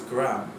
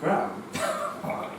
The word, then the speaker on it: Graeme: By the way, I have you on my phone saved as Graeme.